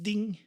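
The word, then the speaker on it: 丁: we have this looks like a nail it's pronounced ding and looks like yeah you see nail here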